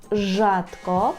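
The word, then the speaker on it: rzadko: читатись як ж А може читатись як ш наприклад у слові жадко жатко перекладається як рідко наприклад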